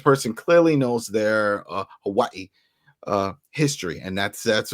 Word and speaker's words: Hawaii: This is how you say it with a V instead of a W.